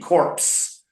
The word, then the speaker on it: corpse: But the P is silent, where you have CORP, corpse. By just putting the E on, we get ps.